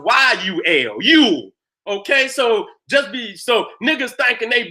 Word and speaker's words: Yule: It's spelled many times J-U-L. Yule. But it's still pronounced Yule.